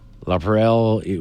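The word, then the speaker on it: LaPrele: La Perelle, we pronounce it as one word.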